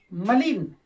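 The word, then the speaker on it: malign: मलिन, जी के बाद एन आया है तो ग इसका उच्चारण खत्म हो जाता है, एन उच्चारण होता है, ओके।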